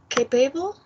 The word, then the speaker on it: capable: The second is capable. The stress is in the first.